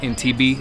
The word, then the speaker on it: Entebbe: Yeah, so we finally reached our destination here in Entebbe, that's how you say it? Yeah, this is Entebbe Airport.